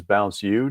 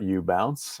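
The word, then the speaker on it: BounceU: our own business um that is Bounce you not you bounce uh commonly mispronounced but uh the brand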